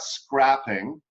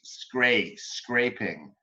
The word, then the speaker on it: scraping: just a few things that I heard about pronunciation. Yeah. It's not scrapping. Yeah. It's scraping.